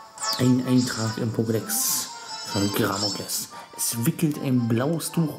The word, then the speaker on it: Gramokles: Gramokles heißt das. Richtig ausgesprochen heißt das Gramokles. Oder Gramokles, ja.